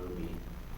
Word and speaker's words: RWBY: It's actually pronounced Ruby.